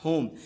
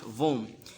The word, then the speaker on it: whom: of you read it vom but i must tell you that it is not home it is home letter w is silent in this word so it would be okay not vom okay so interrogative pronouns